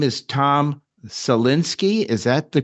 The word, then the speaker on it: Salinsky: very special guest tonight his name is Tom salinski is that the correct pronunciation Tom thank you perfectly correct and he